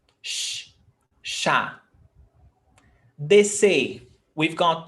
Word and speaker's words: chá: Chá. Chá. We've got CH, but 1 sound. Sh. Sh. Chá.